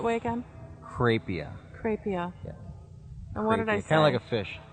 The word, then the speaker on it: Crapia: It's Crapia.